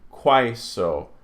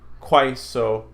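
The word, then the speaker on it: quaeso: So, a, is pronounced I, as in aisle. So puelai, quaiso, saipa. See those here. Puelai, quaiso, saipa.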